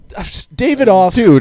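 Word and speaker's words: Davidoff: How do you say your last name? David. David off. Like the cigar.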